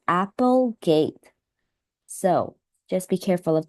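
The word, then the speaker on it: Applegate: name of the author since uh here it's spelled a p e so I think this is pronounced as Apple gate so just be careful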